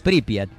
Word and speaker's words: Pripyat: ¿Cómo se pronuncia entonces? Pripyat.